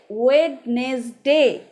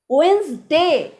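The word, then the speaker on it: Wednesday: তাই আজকের থেকে ওয়েডনেসডে মানে বুধবার নয়, ওয়েন্সডে। নেটফ্লিক্সে একটা ওয়েব সিরিজ রয়েছে, তার নামও কিন্তু ওয়েন্সডে, ওয়েডনেসডে নয় কিন্তু।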